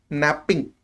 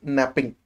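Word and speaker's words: knapping: process is called as napping K is silent so it is called as napping so because of napping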